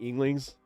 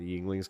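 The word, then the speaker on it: Yuengling: They always had to rush change the Yinglings keg. Oh, I call them I mean it's spelled like younglings and the Star Wars jokes right themselves.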